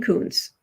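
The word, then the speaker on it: Kunce: So like Dean Coons is how it's pronounced.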